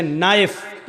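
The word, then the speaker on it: knife: line बोला नहीं जाएगा जैसे इंग्लिश में नाइफ इसको कहते चाकू को नायक चाकू लेकिन के लिखा जाता है बोला नहीं जाता वह साइलेंट रहता है कि मी घुटना अ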